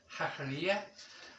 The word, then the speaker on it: Jacarilla: a delightful Village of hakara hakara it's pronounced with the J but of course in Spain it's pronounced the J is pronounced as H hakara uh and hakara is